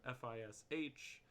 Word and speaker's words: ghoti: down here fish yeah fish is an artificial word used to illustrate irregularities in English spelling it is a Ries pelling of the word F is H is supposed to be pronounced fish it is made of